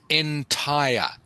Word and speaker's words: entire: It is pronounced entire.